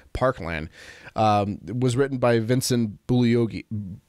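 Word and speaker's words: Bugliosi: was written by Vincent bully okie bully Oski bully OC Bulli OC G is silent he's the guy that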